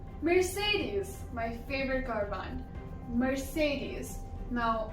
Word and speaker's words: Mercedes: Mercedes. Now, it's not Mercedes, it's Mercedes.